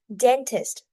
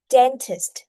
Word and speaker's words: dentist: So class again, dentist. Very good. So when pronouncing, remember to pay attention to put the stress on the first syllable and also the final sound. St. Okay, dentist.